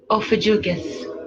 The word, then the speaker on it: Ophiuchus: They're saying, how do you pronounce it? Ophiuchus, the 13th sign.